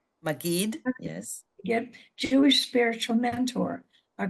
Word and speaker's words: Maggid: She's an ordained, how do you pronounce that, Maggid? Maggid, yes.